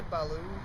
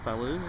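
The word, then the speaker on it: Ballou: do you say Kurt's last name B say Balo Balo yeah but I think that's it how did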